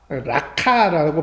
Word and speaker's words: 라가: 자는 지옥불에 들어가게 되리라 라가 라카라고 발음하는데이 말은 막말로 표현하면 골빈놈